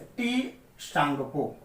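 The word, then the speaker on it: Tsangpo: ब्रह्मपुत्र नदी को तिब्बत में सांपो कहा जाता है, या कहीं कहीं इसको लिखा जाता है इस तरह से टी सांगपो, टी साइलेंट रहता है, या सांपो या टी सांगपो, ये तिब्बत में कहा जाता है।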